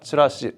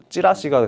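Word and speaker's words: チラシ: 그래서 치라스 하면 이렇게 하는 거고 나간다 그래서 치라 치라시 치라씨 원래 치라시야 그게 한국에서 발음하기를 찌라시가 된 거고 어 다른 치라시가 또 있어.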